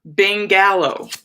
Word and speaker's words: Bangalow: A bangalow. Bangalow. Spelled like bungalow, but with bang.